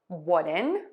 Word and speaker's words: wooden: How do you pronounce ʻwʊdən, which means made from wood?